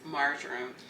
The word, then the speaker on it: marjoram: So I don't know how to pronounce this word marjoram. So Centrea, she looked it up, and we watched a YouTube video on how to say it, and it's marjoram.